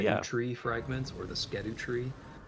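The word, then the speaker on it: Scadutree: tree fragments, or the Skedu tree, is actually supposed to be pronounced Shadow tree.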